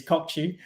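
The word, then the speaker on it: Kökçü: turkish delight that is kokku and i yes i went there and i've also checked out how to say his name is kokchi so oh shisha yeah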